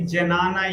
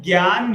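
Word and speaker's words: jnana: So here like some spelling I see janana yoga people read. So it's a sana or basically the correct pronunciation is gan yoga.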